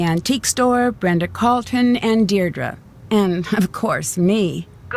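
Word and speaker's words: Deirdre: Hi, Dee. Dear Dra, I know it's got that tricky second syllable, but I figured it out by age two. Don't give up. You'll get there.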